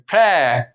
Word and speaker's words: Phrae: I was 4 hours southeast in Prae. It's spelled Phrae.